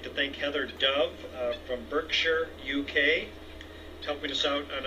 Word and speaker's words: Berkshire: pronouncing that right now John Baxter helped me out to let me know that the town's attended Shi r-e over an England or in the UK or not shire like I've been pronouncing it that it's sure so Heather thank you